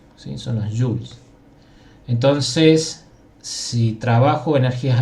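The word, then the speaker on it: joule: soul joss en definitiva con una letra j esto se pronuncia como jules sin zonas jules entonces si trabajo homenaje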